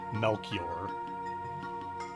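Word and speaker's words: Melchior: I think it's Melior, but that's another one of those things where I've never heard it pronounced. Uh, and I've been saying it that one way in my head my entire life, though. It's really hard to shift it over, but I'm pretty sure that's actually supposed to be pronounced Melkor.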